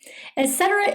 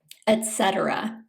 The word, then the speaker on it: etc.: additional items or examples, etc. Some people mispronounce this by saying etc. with a K sound. It's a T sound instead, etc.